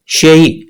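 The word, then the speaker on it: 谁: ये interrogative pronoun लिखा हुआ है, इसका फिनियन देखें, शेई। शेई का मतलब हु और शुई, शुई का मतलब भी हु। दो अलहदा अलहदा प्रोनाउंसिएशन है, लेकिन इसका कैरेक्टर जो है वो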